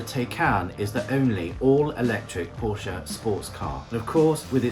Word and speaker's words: Porsche: Actually, it's pronounced Porsche.